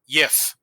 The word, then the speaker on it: gif: The bad news, the Old English word GIF is pronounced YIF.